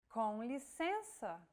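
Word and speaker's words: com licença: out through the nose imagine you're humming with your mouth open and add the E vowel sound to it and now you try and again and altogether it's Conley sensor on a daily basis Brazilians tend to drop the first word saying simply sensor and what about showing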